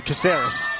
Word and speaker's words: Caceres: Melissa Caceres. Apologies, everyone. I tried an authentic Spanish pronunciation in the intro, but I think we'll go what is more usual for the commentary. Yes, that's Melissa Caceres in the number 10 jersey.